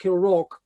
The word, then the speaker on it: Kilravock: get to the real matter, Kilravock Castle, it's pronounced Kilravock, God knows why, but that's why it is.